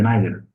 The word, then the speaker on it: neither: Remember, this is word sometimes can be pronounced as neither and neither. British and America don't care, but both of them accepted.